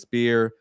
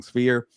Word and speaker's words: Sphere: Berlanga, Canelo, UFC's Spear or Sphere. I keep saying it wrong. Sphere.